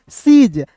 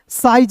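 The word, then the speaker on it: siege: तो एस आई ई जी ई सीज साइज नहीं पढ़ेंगे। इसे क्या पढ़ेंगे दोस्तों? सीज क्लियर है?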